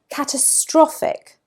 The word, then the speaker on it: catastrophic: Catastrophic, catastrophic. There it's on the third syllable.